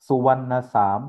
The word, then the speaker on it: सुवर्ण साम: सुवर्ण साम कहते हैं सुवर्ण साम जो श्रवण कुमान है ई थाई लोगों की उच्चारण में सुवर्ण साम कहते हैं और सुवर्ण साम मतलब